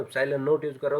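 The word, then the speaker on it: ε₀: और इसको प्रोनाउंस कैसे किया जाता है, एप्सिलॉन नॉट, ठीक है, दिस इज एप्सिलॉन नॉट।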